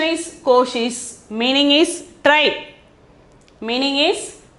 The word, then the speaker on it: कोशिश: Pronunciation is koshish.